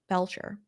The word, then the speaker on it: Belcher: So what we're talking about here is this: Brian Belcher.